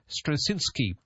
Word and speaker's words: Strawczynski: and of course Airbnb um we've got Joshua strasinski on the line Joshua did I get that correct that pronunciation of your name you did very well